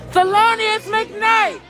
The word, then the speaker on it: Thelonious McKnight: gonna make sure that their brother's name is pronounced and said correctly that's right his name thelonious mcknight thelonious mcknight thelonious mcknight ladies statement was